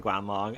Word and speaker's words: Guanlong: So, I'm going to now tell you all about the Guanlong and then I will see you all in the next one. Guanl Long, pronounced Guan Long, was a small therapod dinosaur